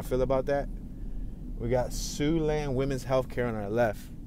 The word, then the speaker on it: Siouxland: Normally, I would have probably said Sioxland or Soxland. But yeah, that's one of those words with silent letters, which sucks.